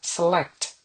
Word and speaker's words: select: Select. Select. Jadi ada th-nya di belakang tapi tipis aja. Select ya.